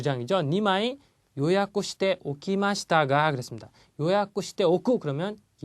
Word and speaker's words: 予約: 다음에 요약구 자, 앞에 있는 요 발음이 짧습니다. 요약구가 아닙니다. 자, 요약구 그러면 예약이라는 말입니다.